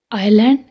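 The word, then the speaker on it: island: एस कहाँ silent होता है इसका रूल है एस is silent before L, एल से पहले एस साइलेंट होएगा।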